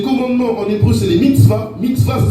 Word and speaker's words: mitzvah: Ensuite, on a dit les commandements en hébreu, c'est les mitzvahs. Mitzvah, ça s'écrit M-I-T-S-V-A, qui veut dire ordonner ou donner un ordre.